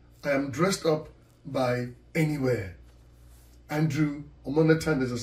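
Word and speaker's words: N.E.Wear: n dot e and then w-e-a-r m-e-m-e- where pronounced anywhere anywhere ladies and gentlemen thank you very much my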